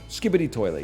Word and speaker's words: Skibidi Toilet: Skibidi Toilet, yeah.